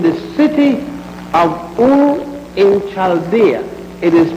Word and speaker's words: Chaldea: Abraham was born in the city of Ur in Chaldea. It is spelled U-R, Ur, and Chaldea is spelled C-H-A-L-D-E-A.